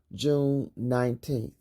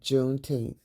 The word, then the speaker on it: Juneteenth: negro girl who cooked not pronounced june 19th she said juneteenth and the name caught